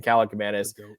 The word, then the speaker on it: Kaliakmanis: Ethan Kaliakmanis is how you pronounce his name.